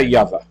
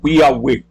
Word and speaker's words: Yahweh: Quem é Yahvé? Ou Yahweh? Porque você pode pronunciar este W como U ou como V.